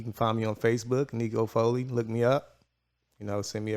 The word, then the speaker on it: Aneko Foley: I feel like at the same sense, but the main thing, this is Networking Mondays, and this is Aneko Foley.